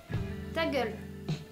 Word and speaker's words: Ta gueule: Post-it, un jeu de cartes qui s'appelle, je le prononce à la française, Ta gueule.